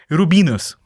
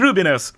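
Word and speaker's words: Rubinoos: of the band the rubinus the rubinus the ruos I tried to pronounce it several times correctly but now I made a mistake the Rubinos absolutely um and for a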